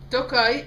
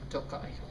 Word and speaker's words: Tokaji: wanted this spine for that special setup so toai is uh they say it's located in the